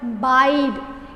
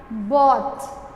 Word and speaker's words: bought: Please, dear children, do not use the word buyed. It is not buyed. Buy, bought. Buy, bought. Past tense of buy is bought. B-O-U-G-H-T, bought. I also told you G-H is silent. B-O-U-T. We only say bought, bought.